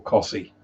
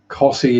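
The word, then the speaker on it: Costessey: manage haysbrough nor cossy cossey is one that would always catch people out because like there was a team on robot wars and the guy who announced them always got it wrong he couldn't pronounce cossy he always added all the extra letters in aren't pronounced drop the eye in hand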